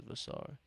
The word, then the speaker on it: Vassar: See, I fell into the rhythm of calling him Vassir, but I believe his name is Vassar. That's how you pronounce it.